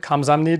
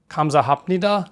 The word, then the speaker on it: 감사합니다: The word 감사합니다 (gamsahamnida) is pronounced differently than it’s spelled.